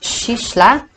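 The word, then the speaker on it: soillse: The second syllable is from the word soisle, pronounced shishla, meaning brightness, and soislen, meaning shining.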